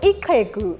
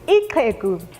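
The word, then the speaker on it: ixhegu: our language we have the click sound for an example ikeku which means an old man spelled i-x-h-e-g-u ikeku and another one ikoko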